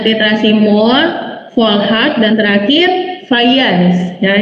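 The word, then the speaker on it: Fajans: Ya, ada titrasi Mohr, Volhard, dan terakhir Fayans. Ya, ini Fayans ya dibacanya karena dia orang Polandia, bukan orang Indonesia. Kalau orang Indonesia dibacanya J, karena dia orang Polandia, J-nya dibacanya Y.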